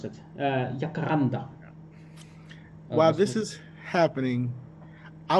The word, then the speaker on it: Jacaranda: How do you pronounce it? Jacaranda.